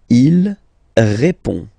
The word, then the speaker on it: répond: Il répond. So, final D is not pronounced. You only have this on nasal sound at the end.